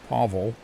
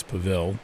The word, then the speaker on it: Pavel: I'm pronouncing that right I don't think it's pavl I think it's it's Pavel that's what I'm going